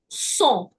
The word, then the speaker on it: son: Son. Son. Again, it'll never be sons. Why? My dipsticks rule tells me because it's following through and ending with an S, I don't pronounce it.